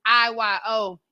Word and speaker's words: Iyonna: It's Look, but it's IYONNA. It's not no A's up in there. It's really a long I, short O. It's the way you sound it out, the way you spell it. You know what I'm saying? It's long I, short O for people who don't know how to pronounce.